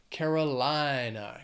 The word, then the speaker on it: North Carolina: we have North Carolina this state has five syllables but Carolina the stress is going to be on that the third syllable in that word Carolina Carolina North Carolina another